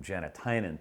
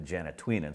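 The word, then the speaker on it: Janatuinen: Well, about 2 weeks after we had our chat with Joel, he switched the pronunciation of his last name from Janatainen to Janatwinen, so that's why we referred to him as Janatainen in the interview.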